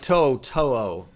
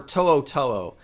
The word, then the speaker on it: To'oTo'o: I should clarify, it's more like To'oTo'o. I mispronounced that the first time around. I pride myself on pronunciation of these names. It's more To'oTo'o, but it's one of those more difficult names to pronounce. Just kind of forgot for a moment, but I think it's so much of hearing like Gary Danielson pronounce it as To'oTo'o, even though it's To'oTo'o, that has been ingrained in my brain incorrectly, but I'll take responsibility.